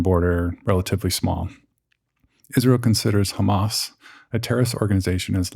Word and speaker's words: Hamas: So the second player, Hamas, and that's the westernized version of it. The correct pronunciation includes a little bit of guttural at the beginning. Hamas, probably butchering it, but to be accurate, that's how it's pronounced.